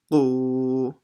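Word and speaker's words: ق: Qu. So it's not ku, it's qu.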